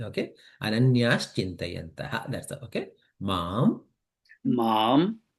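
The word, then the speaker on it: अनन्याश्चिन्तयन्तः: Instead of Ananyaha, ha, is there, right? That is going to be replaced with sh. Okay. So it becomes Ananyash Chintayantaha. Anaya chintayanaha.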